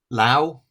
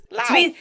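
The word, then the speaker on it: Lou: Lao. That's two different, I think. But it's how it's spelt! In what world? L-O-U. Lao. To be fair, as a school phonics leader, the OU sound is usually pronounced ow.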